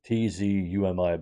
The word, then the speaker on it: Tzumi: The phonetic pronunciation sounds like Sumi. It's Tzumi, but it sounds like you're saying Sumi.